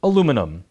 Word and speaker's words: aluminum: cans and other containers north americans pronounce it aluminum elsewhere they say aluminium aluminum is separated from